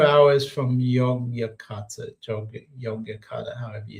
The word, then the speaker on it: Yogyakarta: Yogyakarta, which is not Jakarta.